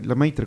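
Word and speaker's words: Lemaître: Podemos hablarles también de George Lamaitre, eh, bueno, el apellido se pronuncia Lamaitre, creo que es francés.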